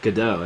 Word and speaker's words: Godot: oh oh oh oh you mean Godot or gdau as his name is properly pronounced but I call him God do yeah he's a cool